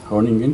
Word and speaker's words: Groningen: Cité en primer lugar una de ellas, Groningen, en neerlandés, Groningen, que es Groningen, está al este.